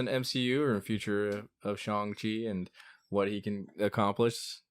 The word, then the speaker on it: Shang-Chi: Shang-Chi. Yeah. I've been saying it right this whole time.